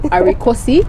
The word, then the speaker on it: Arikosi: during the show so my name is actually arikosi yes so it's not equilibrium i know you want me